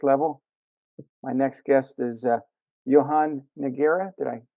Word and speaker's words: Johann Nogueira: to the next level, my next guest is Johann Nogueira. Did I pronounce that right?